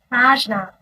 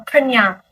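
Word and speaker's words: prajñā: So, prajna or prajna, Sanskrit pronunciation.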